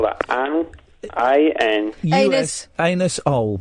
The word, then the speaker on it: Anusol: Anus-ol, but it's pronounced Anusol to save embarrassment.